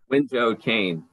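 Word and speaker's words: Wenzhou-Kean: Is that you're going to have to correct my pronunciation of your university, Danny? He's a lecturer at the Wenzhou Qian University. Wenzhou Qian.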